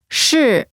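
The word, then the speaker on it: 是: student first is me next is shi here it's like the r in r u last is ma this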